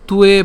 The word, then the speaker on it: ত্বে: তাহলে এখন এখানে উয়ো এবং তে যখন একসাথে হবে তখন তুয়ে উচ্চারণটা হয়ে যাবে, তুয়ে।